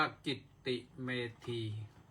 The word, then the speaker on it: กิตติเมธี: Facebook ไลฟ ที่ กิตติเมธี K ตัว ใหญ่ I t I M E T อ่าน ว่า กิตติเมธี ราย การ นี้ ก็